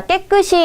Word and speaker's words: 깨끗이: 자, 깨끗이 우리 읽을 때 어떻게 읽습니까? 깨끗이라고 읽어요. 자, 그 말은 깨끗에다가 이라고 하는 부사어로 만들어주는 접사가 붙은 거예요. 우리 이로만 읽히는 건 당연히 이로 쓰여주는 거고요. 이나 히로 둘 다 발음이 되는 건 히로 써주는 게 맞습니다.